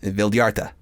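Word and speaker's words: Vildhjarta: Vildyarta.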